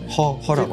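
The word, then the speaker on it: Her: 같아요 관련 그런 거인가요 발음이 헐이 아니고요 헐 acr 허라고 하네요 영국식으로죠 허 김피디 님 혹시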